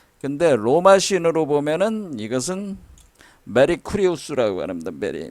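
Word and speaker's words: Mercurius: 근데 로마 신으로 보면은 이것은 메리쿠리우스라고 합니다. 메리쿠리우스. 뭐하고 비슷해요? 메리 크리스마스하고 비슷하잖아. 발음이 메리 크리스마스.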